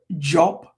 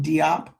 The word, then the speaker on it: Diop: as a d i like jop shank diop we'll call them diop but it's j sunjata as opposed to sundiata.